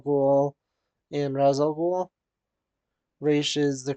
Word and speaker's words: Ra's al Ghul: Raish is the correct pronunciation, but there is that wrong one, so